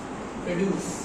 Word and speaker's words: produce: যদি verb থাকে এরকম করে প্রনাউন্স করবা। produce আর নাম হলে produce।